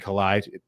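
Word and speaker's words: Calais: otis anderson jake funk xavier jones raymond raymond collide did i say it right remember yeah yeah so i mean you can't even pronounce some of these guys names right now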